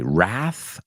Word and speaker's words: wrath: Wrath of man okay Wrath of man and wrath that's an interesting word because it has a silent W wrath w r a t